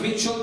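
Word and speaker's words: Mischel: He's pronounced Mitchell, but it's spelled Mitchell.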